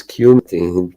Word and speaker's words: cumin: Actually didn't know how you pronounce that. So it's cumin.